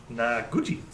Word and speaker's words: Noguchi: Like Gucci with "na" in front of it. Noguchi. Noguchi. Naguchi.